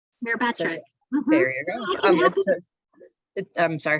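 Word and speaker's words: Myrbetriq: This question says, can you talk about, and I'm going to pronounce it wrong, Mirbatec? Mirabatric.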